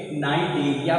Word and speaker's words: Cnidaria: बच्चों तो यहाँ पे सी क्या है, साइलेंट है, तभी तो इसे हम क्या पढ़ेंगे, नाइडीरिया पढ़ेंगे। और जैसा कि आपको दिख